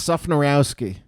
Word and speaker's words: Szufnarowski: how do you say your last name it's sophonyrowski and what is that what does that come